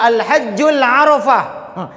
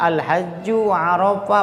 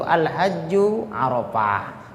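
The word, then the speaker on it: الحج عرفة: Karena yang dibacanya Al-Hajjul Arafah. Al-Hajjul, padahal nggak ada alif lamnya. Al-Hajju Arafah, Bapak Ustadz, yang bentuk Al-Hajju Arafah, bukan Al-Hajjul Arafah.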